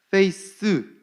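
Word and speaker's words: faith: 백성들이 알기를 원하셨다는 거예요 신실 페이스 th 발음입니다 드 f a i t h 속이거나 사악함이 없고 순수하고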